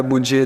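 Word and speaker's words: باء: পরেরটা বা দুই ঠোটের মাঝখান থেকে উচ্চারণ হবে বা অর্থাৎ দুই ঠোট একত্রে করে তারপরে বা তারপরেরটা দেখেন তা।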